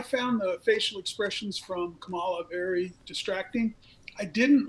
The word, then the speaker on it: Kamala: senator harris's name not kamala yes i acknowledged that after you told me i even acknowledged it but you kept saying camelot it's commonly just think about a punctuation mark i can't tell if